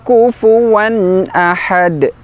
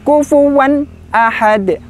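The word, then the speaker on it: كُفُوًا أَحَدٌ: Yang terakhir, sahabat Al-Quran yang dirahmati Allah, adalah tanwin bertemu hamzah. Bacanya adalah izhar, jelas. Kita ingat lagi, tanwin itu adalah ada nun sukunnya, bunyi nun sukunnya. Nun memiliki sifat tawasud, tidak serta-merta berhenti kufuwan ahad. Kufuwan ahad, kurang tepat.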